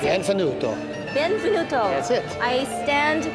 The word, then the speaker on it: benvenuto: Welcome to Folklorama Week 2, Buonvenuto, is that how we pronounce it? Benvenuto.